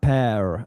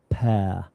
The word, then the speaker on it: pear: I noticed you say the the R pair. Uh, you can do. Yeah. In RP, we generally don't pronounce the R sound much. Pair.